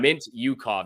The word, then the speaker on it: Mintyukov: Mintyukov, that's how you pronounce it.